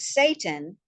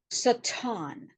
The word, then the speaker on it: Satan: All right, so Satan, more commonly pronounced as Satan, means adversary. And it is a Hebrew word, an untranslated Hebrew word pronounced Satan.